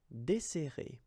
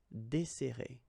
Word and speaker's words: desserrer: and we'll get this desserrer, desserrer. Okay, so we've got this double S, so it will open the sound of the here. That's the reason why I pronounce it like e. Desserrer, desserrer.